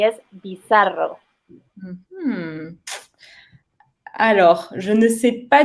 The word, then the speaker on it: bizarro: Bizarro. Do I pronounce it right? Mm-hmm. Yes. Bizarro.